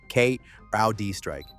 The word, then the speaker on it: CrowdStrike: The list of partners they've been approaching includes Salesforce, Cisco, Google, Adobe, and Crowdstrike for pronunciation Kud Strike.